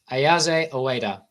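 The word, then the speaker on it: Ayase: How do you pronounce his name? Isa Ayaza.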